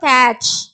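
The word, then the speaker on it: catch: டி வந்து சைலண்டா வரும். அப்போ கேட்ச்.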